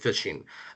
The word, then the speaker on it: phishing: For those who don't know what fishing is, it's spelled ph I s P ph h i s h i n g. So similar to fishing is if like you're trying to reel in a fish, but it is a